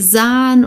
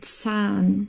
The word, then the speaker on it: Zahn: S und Z also das deutsche Z wird sehr stark ausgesprochen also hier der Zahn okay sehr wichtig es muss stark ausgesprochen werden der Zahn also nicht sahn oder so sondern Zahn okay richtig stark Zahn